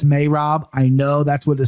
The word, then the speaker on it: Merab: All right, so you nailed Merab, right? We go Merab on broadcast. We'll bring you the file, but it is in fact Merab.